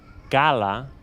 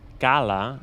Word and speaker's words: cala: Veieu que en la paraula cala, cala, la meva boca es tanca, d'acord? De /a/, la primera A és tònica i la segona és /ə/.